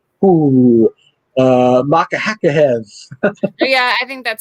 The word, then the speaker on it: Makhachev: Versus Islam Makhachev versus Thiago Makhachev. See, the way I'm reading it, I'm not. I gotta take out the H. Makhachev.